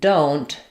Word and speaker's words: don't: Knowing that don't doesn't really sound like do not. We're not we don't have any vowel here. And rather than an u for do, it becomes an o like in the word do.